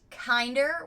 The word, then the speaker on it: Kinder: me show you the box and this is pronounced kinder which i love i think that's so sweet